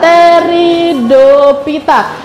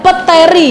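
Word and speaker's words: Pteridophyta: Merlin ya teridopita Iya teridopita ingat anak-anak kita bacanya bukan peteri ya bukan Pete bukan ya teridita jadi kita bisa langsung masuk ke huruf t bukan huruf p lanjut ke sperita nah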